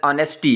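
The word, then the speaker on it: honesty: तो सबसे पहले है जी इस पहले सेंटेंस के अंदर ऑनेस्टी है, इसमें एच साइलेंट होगा, ऑनेस्टी, ईमानदारी, ये जो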